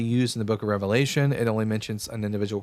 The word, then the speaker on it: Revelation: Um, someone said it's pronounced Revelations. No, it's pronounced Revelation singular.